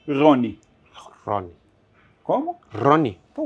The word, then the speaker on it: Rony: nome curiosamente em hebraico em português é Ron mas em hebraico também é a pronúncia seria Rony Ron como Ron então